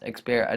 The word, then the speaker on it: Xperia: And what they're calling it is the Sony Xperia Sola, and that's pronounced Xperia. That's spelled Xperia and then Sola.